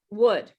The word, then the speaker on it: wood: symbol for this sound wood it's the good sound okay so uh this